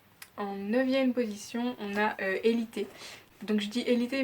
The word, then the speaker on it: Élite: somme qu'ils évitent mais comme ça ne sert espagnol je me dois le prononcer à l'espagnol donc évitez qui est une série